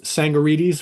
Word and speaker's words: Tsangarides: We're going to talk about the uh, the late British producer Chris Sangorites. Right. The T is silent, right?